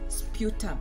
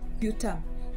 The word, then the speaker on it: sputum: It's known as a sputum.